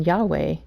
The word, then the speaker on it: Yahweh: doing its thing again the word was developed rather creatively by combining the tetragrammaton with the vowels from adenai so that's how we know for sure that it's not the original pronunciation and Yahweh is much closer to what it actually is the Watchtower even admitted